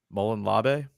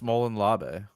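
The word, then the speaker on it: Molon Labe: Mullen Labe? Gadsden. Yeah, the Gadsden flag is the one with of the them. cannon and the star. Right there. Yeah. Yeah, that's Mullen Labe.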